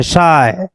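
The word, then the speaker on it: psi: इसको पढ़ते हैं शाई, PSHI, P साइलेंट रहता है, शाई, ओमेगा, ईटा, इसको पढ़ते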